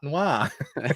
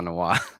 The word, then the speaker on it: noir: If Bancroft pronounced noir properly, it wouldn't rhyme with star. That's very true. They end the same for me. Star noir.